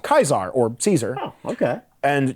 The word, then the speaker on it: Caesar: the fallout's writing is you can tell how someone feels about the Legion by how they pronounce Caesar's name if they say Caesar they're not sympathetic but if they say kaisar yeah they know how to pronounce it and that's the problem